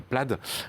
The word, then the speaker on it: Plaid: version très performante donc la pelade c'est comme ça qu'on prononce en anglais ça s'écrit plaide et est finalement là